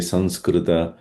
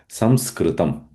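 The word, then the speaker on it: संस्कृतम्: So many times we say sanskrit. Um uh in south India they say samaska and then in English we say Sanskrit. What is the right word for pronouncing? That is samskrum.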